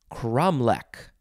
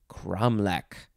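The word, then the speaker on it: cromlech: is uh crow manion next word it is kromlek kramlek sounds like something that somebody made up for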